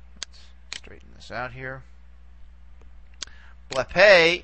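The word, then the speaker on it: βλέπε: Blepe is, again, we go back as far as we can. In this case, we only have two syllables to play around with. And this one's going to be long anyway for purposes of accentuation. So here is where we put the accent for blepe.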